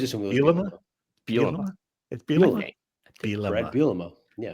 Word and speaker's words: Bielema: It's Bielema. Brad Bielema. Bielema. Yeah. How did I get 4 syllables out of there?